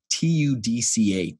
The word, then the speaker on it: TUDCA: the last recommendation I would say is TUDCA, T-U-D-C-A. So it's an acronym, all in capitalized letters. Technically, it's supposed to be TUDCA. Some people say TUDCA.